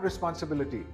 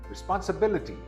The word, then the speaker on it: responsibility: This is a very difficult word to stress because the fourth syllable is stressed. It is not responsibility, it's responsibility.